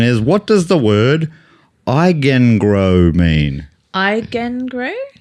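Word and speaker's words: Eigengrau: And the question is, what does the word eigengrow mean? Eigengrow? Eigengrow. Can you spell it, please?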